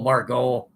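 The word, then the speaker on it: Margot: up an outfielder Manuel Margo m a r g o t I believe that's how he pronounces it uh they had to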